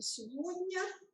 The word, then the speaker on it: сегодня: Не все называли правильное слово, но слово это сегодня. Здесь за то, что названо правильное слово сегодня, полбалла. Дальше, что нужно было еще здесь вот по требованиям назвать, что вместо буквы Г произносится звук В.